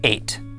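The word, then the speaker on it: את: This word is spelled Aleph, Tav, and it is pronounced 8.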